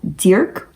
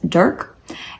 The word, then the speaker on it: Dirk: I will attempt to say it in the Dutch accent, DIRK. We would say in the US, DIRK.